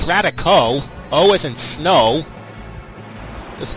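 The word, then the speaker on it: Raticate: 70 just a clarification someone tried to call that radical it's radico oh is in snow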